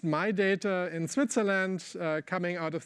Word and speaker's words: Midata: So this is this model pronounced My Data in Switzerland, coming out